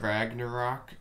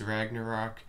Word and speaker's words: Ragnarok: So anyway, we're looking at Ragnarok. I'm told that's how you say it. It's not Ragnar, okay, it's Ragnarok, and he's coming in here on number 8 with a minor attack.